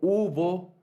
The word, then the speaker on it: hubo: Es decir, está como palabras como hilo, como hijo, como hubo, palabras que se deben escribir con una H, pero que la H, cuando la hablamos esa palabra, la pronunciamos, no suena, hilo.